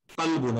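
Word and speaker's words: قلب: দেখেন আরবিতে আপনারা একটু উচ্চারণগুলো আমরা একটু কেয়ারফুলি করি, যেমন এটা কফ, এটা কিন্তু আপনার গলার মাঝখান থেকে আসে। কলবুন, কলবুন হচ্ছে কুলুবুন। এটা যদি নর্মাল কাফ হয়ে যায়, কালবুন মানে হচ্ছে কুকুর, ওটা কিন্তু অন্য শব্দ হয়ে যায়।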